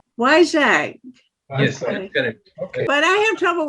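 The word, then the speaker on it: Vizag: i z a g and how do you pronounce it why zag why zag okay but I have trouble with German too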